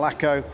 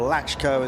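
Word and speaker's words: Lacko: But it's pretty well all about Han and Laco or Latchko as it should be correctly pronounced.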